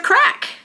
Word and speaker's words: craic: that say they say what's the crack and it's spelled c r a i c and that basically just